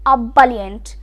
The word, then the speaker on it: ebullient: Now, our fourth word in the continuation is ebullient. Now, this word starts with E but has A sounding letter in its pronunciation.